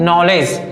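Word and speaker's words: knowledge: है, तो यहां पर के क्या हो जाएगा, साइलेंट हो जाएगा। इसी प्रकार ये क्या है, नॉलेज, क्या है, नॉलेज, तो देखो यहां पर दो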